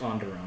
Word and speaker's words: Onderon: It's pronounced Onderon. Onderon with an O.